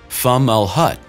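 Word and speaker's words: Fomalhaut: hut b which orbits the star fumblehut pronounced femmel hut and is arabic for mouth of the fish was found by university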